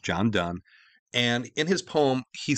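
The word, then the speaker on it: Donne: to reflect upon by John Dunn yes it's pronounced John Dunn and in his poem he said no man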